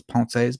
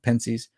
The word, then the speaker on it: Pensées: I know it's Pensées, but American swine, I pronounce it Pensées.